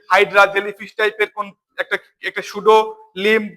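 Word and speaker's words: pseudo: করে সবাই একটু ভালোভাবে খেয়াল করবা এনস কি উচ্চারণ হবে সুডো NMOS P এস ইউ ডি ও সুডো এনমস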